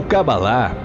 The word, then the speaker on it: Cabalá: A palavra Cabala, ou Cabalá, como é pronunciada no original, possui o significado do ato de receber.